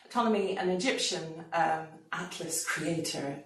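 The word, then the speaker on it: Ptolemy: if you're interested Tommy he has annoyingly a silent P at the beginning of his name tmy an Egyptian um Atlas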